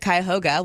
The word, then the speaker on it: Cuyahoga: It's in Cuyahoga Falls, Ohio.